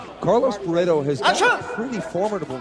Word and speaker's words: Barreto: Teligman is defending well against the low kick attempts there by Carlos Barreto. Or Bahetto, as they pronounce it in Brazil.